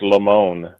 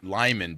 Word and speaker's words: Limon: It's pronounced Limon. Limon. Limon. Right. Because we were thinking that because you're back east, and so we figured, some people might pronounce it Lyman back east, but here in California we have that it's kind of Spanish influence over here, and so we would Limon. definitely pronounce it Limon.